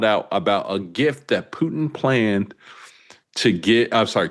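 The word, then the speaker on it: Путин: Putin. P-O-O. This first part. P-O-O-TIHN.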